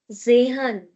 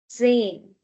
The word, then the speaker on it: zehn: Then we will not give a lot of stress on this ha. We are not going to say zehan. No. zehn zehn zehn Okay?